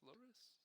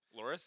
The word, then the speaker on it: Loris: Loris, that's how you say his name. Loris.